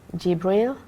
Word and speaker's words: Gibril: His name is Gibril. Did I pronounce it right? Okay. Yes. Welcome to the show, Gibril. Good to be here. Do you want to introduce yourself? Yes. Hello everybody, my name is Gibril.